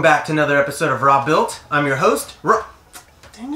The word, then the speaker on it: Robuilt: the channel is called raw built okay my name is robert i call myself rob robert rob built things i build things rob built it not row built you know it's not